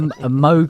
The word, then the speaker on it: Moog: it just says as in Vogue.